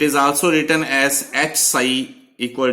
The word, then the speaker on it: psi: ई for energy, we mean potential energy and this साई, पी एस आई, P silent है, साई ये describe कर रहा है एम्पलीट्यूड.